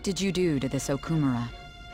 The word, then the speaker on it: Okumura: Kunikazu Okumura. Okumura, not Okumura. Okumura, say it right.